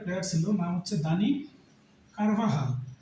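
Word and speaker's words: Carvajal: Real মাদ্রিদের একটা player ছিল নাম হচ্ছে দানি কারভাহাল সে হচ্ছে স্প্যানিশ প্লেয়ার এই যে জে এল কারভাজাল অনেকে বলে দানি কারভাজাল বা কারবাজে বা ভেজাল তো ভেজাল না আসলে তার উচ্চারণটা হচ্ছে দানি কারভাহাল তো স্প্যানিশ হওয়ার কারণে এই উচ্চারণটা যে এর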